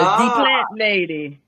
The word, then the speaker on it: Dí Plant Lady: So that D is patois. So it's D Plant Lady.